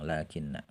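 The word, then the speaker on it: لكنّ: lakin artinya namun ya di sini lamnya tulis harakatnya pendek tapi dibacanya panjang ya karena Lakina ini termasuk lafaz yang tulisan dan pengucapan beda Jadi dibacanya panjang lakinna wa kaanna dan kaan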